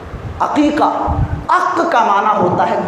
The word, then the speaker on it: عقیقہ: جانور کو کہتے ہیں، حقیقہ نہیں. بہت سارے بھائی حقیقہ پریشان. اب ان کا تلفظ صحیح کروایا جائے کہ حقیقہ نہیں ہے، ہاں سے نہیں ہے، عین سے. عقیقہ، عق کا معنی ہوتا ہے کاٹنا میرے بھائیوں، چیرنا.